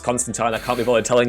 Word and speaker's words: Constantine: Yes, it is pronounced Constantine.